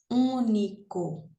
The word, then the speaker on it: único: Único. Então, sílaba tônica é aqui, a antepenúltima ela é proparoxítona.